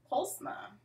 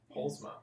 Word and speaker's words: Poelsma: Deana how do you say your last name pulma pulma yeah dut where's that Dutch okay yeah my